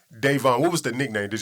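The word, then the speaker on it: Dayvon: before king vine because how you pronounce his first name is devon yeah davon what was the nickname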